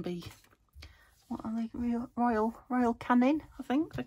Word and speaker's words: Canin: And they can be, what are they, Royal Canin, I think they're called, or Canine. Not canine, but it's spelt like canine, but they're cat biscuits.